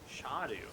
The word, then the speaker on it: Scadu: Shadu. Shadu. Shadu. It's a C. I'm like scadu.